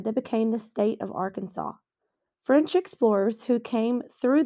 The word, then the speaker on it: Arkansas: how to renounce the state's name one said R can saw while the others said are Kansas in 1881 the state government passed a law declaring that the correct pronunciation is Arkansas they felt this was the best historic pronunciation